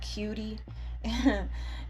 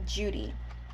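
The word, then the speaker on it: Cudi: on um Mount Judy it's spelled c u d i but it's not pronounced cutie it's pronounced Judy Mount Judy and um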